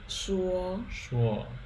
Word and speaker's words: 说: That's pronounced 诗乌欧说说 Yeah.